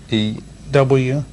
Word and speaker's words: Newt: N-E-W-T. T. And then Gingrich. For real, how does this spell that?